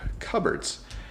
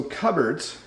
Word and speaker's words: cupboards: notice that we have cupboards so cupboards uh notice it's not pronounced the way it looks uh in a Cupboard